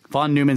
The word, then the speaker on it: Neumann: You know, von Neumann self-replicating von machines. Neumann. Yes, Neumann. Neu. Von Neumann. I mean, N-E-U is actually pronounced Neu if it's German.